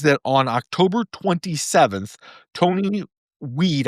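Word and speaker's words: Wied: So, what we know is that on October 27th, Tony Weed, I believe it's pronounced weed, might be wide.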